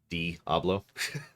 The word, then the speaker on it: Diablo: a game called uh diablo most often referred to as d hablo but screw it i'm